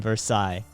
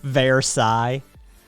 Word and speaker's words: Versailles: No, there's only one, and it's the S. The ILL sound it's a yeah song sound. It's not silent. It's wholly pronounced.